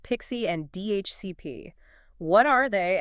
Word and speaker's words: PXE: Yeah, PXE, often pronounced Pixie and DHCP.